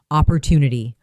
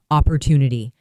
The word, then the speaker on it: opportunity: Now, let's focus on pronunciation and share rhythm. Repeat slowly. Opportunity. Opportunity.